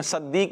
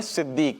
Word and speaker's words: صدیق: صدیق، صدیق رضی اللہ تعالیٰ عنہ۔ اچھا غلطی کر دیتے ہیں، صدیق نہیں ہے، ٹھیک ہے، نام ہے صدیق۔ کیا ہے؟